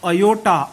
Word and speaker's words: iota: The spelling is different but the pronunciation is also different. इट is called as iota, IOTA.